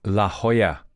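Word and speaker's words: La Jolla: pronounce this let me let me look it up see it was worth it wasn't it La Hoya I would have said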